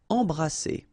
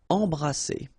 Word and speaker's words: embrasser: All right, E-M here, and then you've got a consonant after, so you get the nasal en. So you don't hear any M, it's really in your nose. En. Embrasser. All right, and then double S here, it's S.